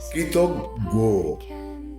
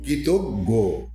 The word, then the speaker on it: কৃতজ্ঞ: কৃতজ্ঞ, এটা প্রচলিত ভুল, বলতে হবে কৃতজ্ঞ। কয়ডিকার ত গ গ ওকার, কৃতজ্ঞ।